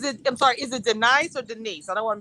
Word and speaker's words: Denice: then okay is it i'm sorry is it denies or denise i don't want that's not your name denise denise no because my name is and i never get it pronounced that way it's always good not